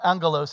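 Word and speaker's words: ἄγγελος: The Greek word is angelos, and or angelos, actually, it's a hard G.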